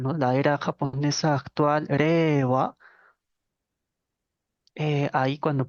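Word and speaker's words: 令和: la era japonesa actual reeva eh ahí cuando pronunciamos eso la i pareciera que no está sonando no pareciera que es la e que se estira greva e si uno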